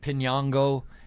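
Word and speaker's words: Piñango: And I do know that it's Pinango. And I know that that is how I should be pronouncing it.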